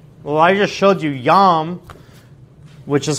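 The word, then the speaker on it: ים: Well, I just showed you yam, which is how you say sea, the sea, in Hebrew, is also a name for a Canaanite god.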